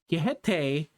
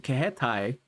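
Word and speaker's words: Kiheitai: Kihete, I'm saying it in like a weirdly like I feel like in a more Spanish way, but that's not how you say it. It's the Kihetai.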